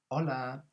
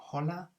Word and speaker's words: hola: that's our first word hola and also notice that the h is not pronounced so it's not holla but so in spanish